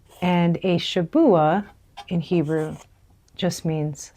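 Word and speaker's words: שבוע: Now, the word weeks in Hebrew is Shabua. And a Shabua in Hebrew just means 7.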